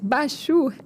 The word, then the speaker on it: Bachur: Bachur é como se fala, é B-A-C-H-U-R.